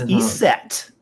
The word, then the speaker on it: Iset: Isis isn't even Isis in Egyptian. Right. It's Iset. And so anyway, Iset.